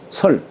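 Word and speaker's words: 契: 순임금이이 설이라고 하는 사람 예 우리 개라는 글자가 글개하지만 글계하지만 사람 이름으로 말할 적에는 설이라고 읽어요. 설 우리요 설이 순임금 때에이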